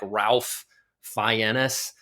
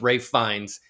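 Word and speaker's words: Ralph Fiennes: But Ray Fines, by the way, if you see his name, it looks like Ralph Fennis. It's pronounced Rafe Fines.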